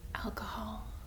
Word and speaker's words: alcohol: Try and pronounce it. Pretty good. Alcohol.